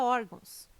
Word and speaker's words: órgãos: ah e tem correto caráter intransferível e órgãos tem sua sílaba tônica na penúltima sílaba são paroxítonas observação poderia gerar dúvida a palavra órgãos mas ela não termina em ó termina em não banca cespe ministério público